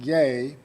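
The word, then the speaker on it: γῆ: is the Greek word gag GA descent is pronounced gay and this word is used some 82 times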